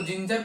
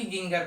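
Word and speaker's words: ginger: आई लगाकर दिखाते हैं जी आई एन जीई आर इसको जिंजर पढ़ेंगे ना कि गिर पढ़ेंगे तो मतलब जी के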